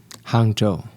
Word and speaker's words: Hangzhou: How do you pronounce the name of the little town you grew up in? Hangzhou. Hangzhou.